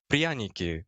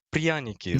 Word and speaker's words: Pryaniki: So next time when you're trying to pronounce it, you can go Pryaniki, like a little bit smoother. Pryaniki, something like that.